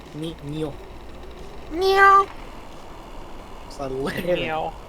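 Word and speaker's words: niño: It's it's exactly the same when Americans go, oh look, it's Nina or Nino. No, it's ni ña, ño, ni ño.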